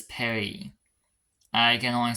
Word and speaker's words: Paris: know the first word I can only pronounce as the French pronounce it Perry like yes for most of the r is Paris for the French is Perry I can only say